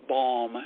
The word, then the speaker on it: balm: I also think that we all need a little bit of balm, and I spell that B-A-L-M, not B-O-M-B. Yes. Balm.